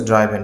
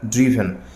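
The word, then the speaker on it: driven: হবে ড্রু ড্রাইভ drop অনেকে বলি হচ্ছে ড্রাইভেন কিন্তু উচ্চারণটি হবে ড্রিভেন একইভাবে ফ্লাই ফ্লু ফ্লোন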